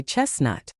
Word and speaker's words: chestnut: Most people skip the T here and say chestnut.